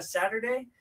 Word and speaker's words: Saturday: ¿Sabía que este T no suena como una T? Hoy les voy a enseñar. Ahora vamos a dividirlo en tres sílabas. Saturday. Y recuerden que la mayor fuerza de voz debe ir con el sa. Saturday. Y la segunda sílaba es der. No es con E, no es der, es der.